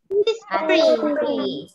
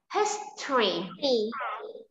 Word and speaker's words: history: History. Wait, wait. Phương Ngân, what's it? 19. How do you pronounce this word? Listen, history. Có hai âm tiết thôi các bạn nhé.